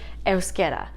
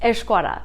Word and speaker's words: Euskera: But today, we're talking about the Basque language, Euskera. Or, as my dad calls it, Euskara. There are many different ways to pronounce things in Basque.